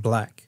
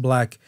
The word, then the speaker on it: 6LACK: that said black, pronounced black. Of course, the artist Black spelled out 6LACK, but phonetically said or pronounced black.